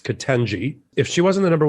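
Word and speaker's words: Ketanji: harris um you know he calls her to kataji it's kitenji if she wasn't the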